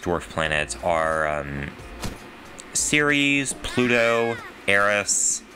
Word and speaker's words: Eris: Instead, the recognized dwarf planets are Ceres, Pluto, Eris, or Iris, as I found out is an alternate pronunciation.